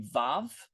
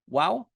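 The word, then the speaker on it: וו: Now we come to the vav, which if you see me write it in class, I'm going to write it with W's because historically it was a wow.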